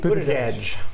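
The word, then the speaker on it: Buttigieg: Boot Edge.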